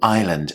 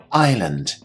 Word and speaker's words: island: let's move on to Island and here we have a silent s island repeat after me Island i s l a n d Island Madagascar is a